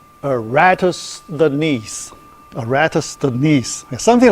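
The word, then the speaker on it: Eratosthenes: called seieve of aratus aratus the knees yeah I you know the break time you know I use Google to look look up for the pronunciation Okay. A ratus the knees.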